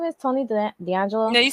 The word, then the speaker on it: Tony D'Angelo: Tony D'Angelo is that what his name is Tony D'Angelo yeah you said it right you said it